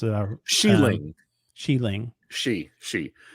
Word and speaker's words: Xialing: Sheeling. Sheeling. She. Sheeling. XI is she.